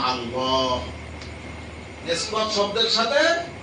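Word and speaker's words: نسبت: আমাদের দরকার হলো নিসবাত। বলেন যে উচ্চারণ করি কি শব্দ? নিসবাত। দন্তন্বয় রস্যি দন্তুস্ব বয়াকার ত, কি হবে? নিসবাত। আরবি শব্দটা হলো নুন সিন জবর নাস আর বা লম্বা তা জবর বা, নিসবাত।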